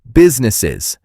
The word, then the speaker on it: businesses: And notice the word businesses. That is a tricky one for pronunciation. It is business. Is three syllables. Many people try to skip the middle part, but you need that ness in there.